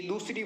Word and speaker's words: the: भी का प्रयोग होगा इसी प्रकार से जैसे दिए एग्जीबिशन तो एग्जीबिशन में एक ही ध्वनि आती है जो कि एक स्वर की ध्वनि है तो इसमें भी तो उच्चारण होगा वह देखा होगा ना कि दवा का एक और कारण देखते हैं दीए एलिफेंट तो दी एलिफेंट में एक स्वर की ध्वनि है फिर इसमें भी दी का प्रयोग होगा तीसरा प्रकार